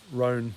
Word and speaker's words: Rohn: his name's uh jim rohn rhone i think you pronounce it r o h n uh and